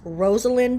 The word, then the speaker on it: Rosalind: It's not a Z, it's an S. It's Rosalind if I am saying it correctly.